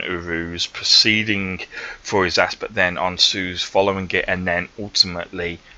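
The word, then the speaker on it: Ansuz: sometimes can get a little bit hard to pronounce correctly. So the next rune is, yeah, on Suze.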